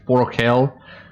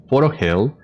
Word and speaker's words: Forochel: uh so yeah that's that's the uh correct pronunciation there same with with four hell which is a really sound a really particular